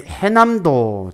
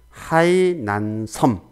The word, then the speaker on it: 하이난 섬: 슬라이드 여러 주시죠 자의 해남도 짜이 헤 남도가 잘못되었습니다 이는 하이난 섬 하이난 3 가 현지 발음을 중시합니다 그렇죠 그래서 해남도 보호를 하이난 섬 으로 에 수정을 해 주셔야 됩니다 하이난 섬 자담 이번